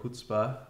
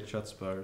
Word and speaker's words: chutzpah: uh use the word hutzpah um and he taught us how to pronounce it said don't say chutzpah or something like that um yeah he's he's